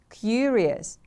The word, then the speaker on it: curious: know more about it curious the stress is on the first syllable repeat after me please